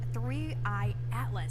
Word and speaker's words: 3I/ATLAS: But let's talk about the new things with 3I Atlas. That's the correct way to pronounce it, correct?